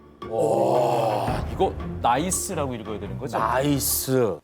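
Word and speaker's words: NEIS: 이거 나이스라고 읽어야 되는 거죠? 나이스.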